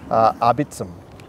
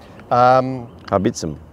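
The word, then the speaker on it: Arbeitsam: I was told how to pronounce this, it's a German word, Arbitsam. Arbitsam.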